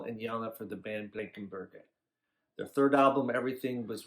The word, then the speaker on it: Blankenberge: Here in Russia, we pronounce it like Blankenberge. We heard something like Blankenberge, and it's also fine. We say Blankenberg or Blankenberge, but Blankenberge, something like that.